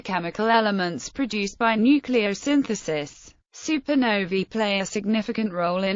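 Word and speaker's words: supernovae: Fritz zwiki in 1931 it is pronounced supern noi with the plural supern noi supern noi or supernovas during maximum brightness the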